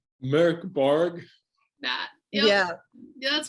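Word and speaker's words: Mörk Borg: I always say Morkborg, but I know it's not right. Christopher, the speaking expert. Yep. Merk Borg.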